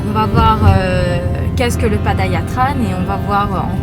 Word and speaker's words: Padayatra: Enfin moi je dis tran, Padayatra ou bien Padayatran. Ok, pas nous va voir comment on va les prononcer.